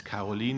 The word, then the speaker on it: Caroline: As you can imagine from my pronunciation, she is German, and so the pronunciation of her first name is Caroline in Germany, Caroline.